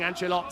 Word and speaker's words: Angelot: We get the definitive, the authentic pronunciation there of saying Angelot. So nice to hear that what I've been calling has been backed up by Jorge Faustino.